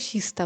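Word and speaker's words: Kista: যে শিস্তা লেখা এখানে কে টা কিন্তু কে উচ্চারণ হয় না ওই যে কিস্তা লেখা জায়গাটা রয়েছে সেটাই উচ্চারণ হয় শিস্তা বলে তো এই বড়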